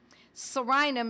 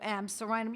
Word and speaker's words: Psorinum: One of them was Sorinum, spelled with a silent P, like pneumonia, you don't pronounce the P. Sorinum is P-S-O-R-I-N-U-M, Sorinum.